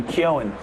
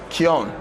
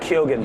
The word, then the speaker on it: Keoghan: I also heard from somebody who is Irish that it's actually, you would say Keown. Keown. Keown, not Keoghan.